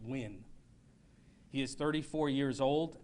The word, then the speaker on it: Nguyen: officer andrew nguyen and i'll spell that it's n g u y e n pronounced win he is 34 years old and has been with lvmpd since 2018.